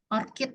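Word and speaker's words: orchid: bunga anggrek itu flower bukan parkit or kit bacanya ya jadi apa ini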